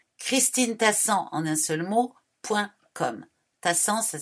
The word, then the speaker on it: Tassan: Tassan, ça s'écrit T-A-2-S-A-N.